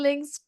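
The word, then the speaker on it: Lyng: it's three it will link share am I right I just called her Twee I'm sorry you can call me Lin l-y-n-g-ling okay thank you Lynn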